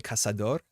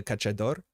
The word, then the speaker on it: Caçador: I was corrected in the comments that this should be pronounced probably Caçador, not the Cachador.